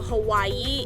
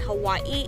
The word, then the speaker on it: Hawaii: But in Hawaiian language, W in the middle is pronounced V. So for example, Hawaii, it's not Hawaii, it's Hawaii.